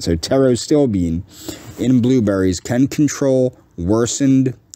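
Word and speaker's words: pterostilbene: acrylamide toxicity uh the petrostilbean uh or I guess that's a Arrow still being would be how you pronounce that because that P would be silent so tarot still being in blueberries can control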